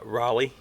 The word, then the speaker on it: Raleigh: You don't say it like rally. Raleigh. You're pretty close. I think it's more like raw instead of ra, and then lay Okay, instead of rally.